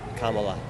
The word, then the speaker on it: Kamala: Comma, like comma, like I'm gonna do a comma. Like Kamala. Kamala. Yep. Have a good day. You too. You guys, it's Kamala. You're gonna say Kamala.